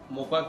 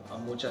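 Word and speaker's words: Mocha: हम लोग यहाँ पे ब्रीफिंग के लिए बैठे हैं तो साइक्लोनिक मोका का जो मोका है मोचा है इसके दो प्रोनाउंस है तो उसके बारे में अभी आज वेदर डिपार्टमेंट आज हम उसके लिए ब्रीफिंग दे रहे हैं।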